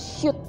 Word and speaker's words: Sult: Sult ini sebenarnya bacanya shoot ya, gitu. Itu bahasa dari Hungaria.